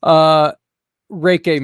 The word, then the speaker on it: Reiki: Reiki master, can you explain? And I know I mispronounced the word.